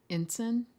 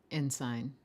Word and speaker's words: ensign: By the way, apparently ensign or ensign are both pronunciations that show up. And with an S, not a Z.